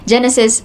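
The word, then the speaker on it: JENESYS: Genesis spelled as j e n e s y s.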